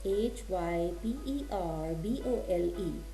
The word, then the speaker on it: hyperbole: a figure of speech hyperbole. You see the spellings h y p e r b o l e. It's not pronounced as hyperbol. It is hyperbole.